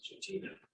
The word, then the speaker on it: Chitina: And if you look at the word chidna, I pronounce it as chitina.